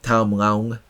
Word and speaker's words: Tham Luang: Tham Luang Caves, Tham Luang Caves, Tham Luang Caves, Tham Luang Caves. One of the There you go. That last one was probably the right pronunciation.